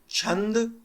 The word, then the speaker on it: छंद: ज्योतिष निरुक्त शिक्षा व्याकरण अब देखो चंद में यहां पर एक एक्स्ट्रा ए दिख जाएगा चंदा तो इसको चंदा नहीं बोलना है छंद ही छंद